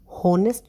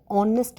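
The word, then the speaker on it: honest: यहाँ पे भी हम इसको होनेस्ट नहीं बोलते, होनेस्ट, ह कॉन्सोनेंट है, लेकिन हम इसको ऑनेस्ट बोलते हैं, एच साइलेंट होता है, ओनेस्ट, ओ, और ओ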